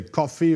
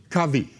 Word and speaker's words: Covey: A guy like Stephen Covey, I don't know if you say Covey. I've heard some people say Coffee or Cover. How do you pronounce? The guy who wrote? Covey. Covey.